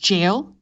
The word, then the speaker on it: gaol: pronounced jail?